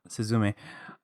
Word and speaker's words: Suzume: to talk about suzumi oh so yeah on the last syllable Susan me um it's